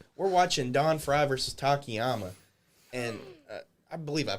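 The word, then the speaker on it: Takayama: We're watching Don Fry versus Takiyama. And I believe I pronounced that right, Takyama.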